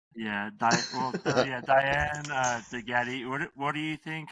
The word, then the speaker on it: DeGette: Degette. Degette.